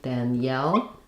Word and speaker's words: Daniel: So in Daniel, we have first syllable stress, the a vowel. It sounds like the vowel in cat, Dan. And then we don't do an EL here, not Danielle, but Daniel, Daniel. So the EL sounds end up sounding more like yul, Daniel.